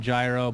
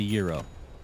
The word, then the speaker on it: gyro: but it's actually gyro. Like the American pronunciation should be gyro. I think the actual pronunciation is more like hero, something like that.